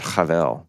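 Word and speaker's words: הבל: And his name is not Abel, but Havel, which is the ethereal end of sightless smoke.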